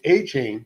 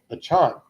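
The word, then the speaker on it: Achane: You mentioned Mostert, but another guy that had 4 touchdowns was, and I'm going to say his name wrong because I'm still hoping it's A-Chain, Devon A-Chain.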